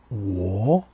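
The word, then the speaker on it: 我: Dans la syllabe que je vous propose, et qui se prononce wo, et qui correspond au pronom personnel je, l'accent est positionné sur le o qui compose la syllabe.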